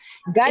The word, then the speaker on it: Galiya: It's Tatar name, yes, and I know it's a little bit difficult for European people to pronounce it. Galiya.